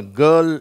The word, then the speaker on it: girl: GIRL, இதை நம்ம கேர்ள் அப்படின்னு உச்சரிக்கிறோம். இந்த RL அதற்கு முன்னாடி உள்ள வவல் எழுத்தோடு சேர்ந்து, அதாவது உயிரெழுத்தோடு சேர்ந்து அப்படிங்கிற ஒரு உச்சரிப்பை கொடுக்கிறது. அதனால் இதை எப்படி நம்ம உச்சரிக்கணும்?